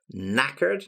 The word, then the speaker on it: knackered: out then we've got knackered now again here with pronunciation here we've got the K and the k is silent so it's spelled k n but the stress and